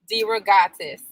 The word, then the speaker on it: DeRogatis: make sure I say his name right, Jim DeRogatis.